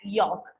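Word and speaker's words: yolk: और एग का जो येलो पार्ट है उसे हम क्या बोलते हैं, एग यॉक, ठीक है, YOL के, जिसमें एल साइलेंट होता है, तो एग यॉक बोलते हैं।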